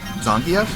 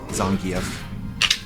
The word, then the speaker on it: Zangief: Zangief? Yeah, that's how his name is pronounced. That's how they say his name in Street Fighter story mode. Zangief.